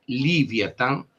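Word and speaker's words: לִוְיָתָן: ni siquiera este mundo la palabra leviatán que en hebreo se pronuncia livyatan proviene de la raíz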